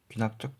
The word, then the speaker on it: 귀납적: 수열의 귀납적 정의. 이게 컨납적이라고 읽는 분들도 좀 있더라고요. 뭐 기어워를 그 커여워로 하듯이 귀납적입니다.